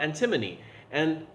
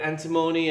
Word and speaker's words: antimony: And so for this one we're going to talk about antimony, or antimony as some people have pronounced it.